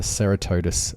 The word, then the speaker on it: Ceratodus: and in particular the Ceratodus rest stop. Now it's properly pronounced Ceratodus, but I like Ceratodus better.